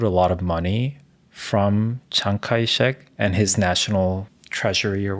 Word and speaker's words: Chiang Kai-shek: Is because, so the founder of Taiwan, Chiang Kai-shek, I'm probably butchering his name, but anyways. In Korean or in American? Because Chiang Kai-shek is right. That's how we pronounce Chiang Kai-shek is the American pronunciation, yes, right?